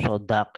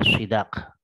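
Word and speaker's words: صداق: Jadi sodak itu lebih fasih daripada sidak. Keduanya boleh diucapkan. Sodak boleh, sidak boleh, tapi yang lebih fasih adalah sodak.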